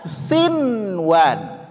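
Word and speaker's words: صنوان: Bacanya ini bagaimana? Sian. Iya. Tidak. Ah, ini dia di kalimat ini dia dibaca izhar. Oke, dibaca izhar. Maka di sini dibaca sinwan.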